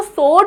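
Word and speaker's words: sword: called स्वर्ड ठीक है ये जो वर्ड है ना एस डब्ल्यू ओ आर डी इसको स्वर्ड नहीं बोलते हैं बच्चों इसको स्वर्ड बोलते हैं डब्ल्यू साइलेंट होता है ठीक है जल्दी से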